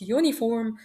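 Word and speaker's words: uniform: بحرف اليو وهو فاول الا اني ما نطقتوش زي ما بنطق الفول انا قلت يونيفورم مش زي ما نطقت امبريلا وبالتالي خدت اداه التعريف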